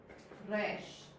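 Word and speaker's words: ריש: It's like a slightly rolled R. It's like in Spanish. It is. It's a rolled R.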